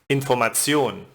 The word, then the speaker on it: Information: But as always, there are exceptions where the first syllable is not stressed, as in studieren, Bücherei, Information. And in the group of